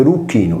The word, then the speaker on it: Erycinum: Tolomeo individe al centro di Erucino, pronunciato Eruchino, nella Sardegna settentrionale, nei pressi di Erula, cittadina